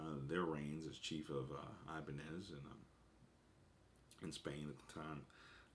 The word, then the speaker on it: Ibanez: read, by the name of, I hope I'm pronouncing this right, Salvador Ibanez. Salvador Ibanez. That's Ibanez.